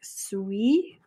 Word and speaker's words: suis: So je suis, it's pronounced like suis, like sweet without the T.